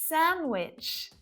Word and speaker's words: sandwich: What letter is the silent letter there? Did you guess D? I had the most delicious sandwich last Wednesday when I was on a date with a handsome boy.